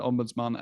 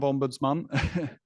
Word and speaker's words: ombudsman: um of an independent Ombudsman as a point of consideration for Malaysia so firstly let's start off with the pron pronunciation of Ombudsman it's it's not Ombudsman that uh it's actually ombuds M um and the word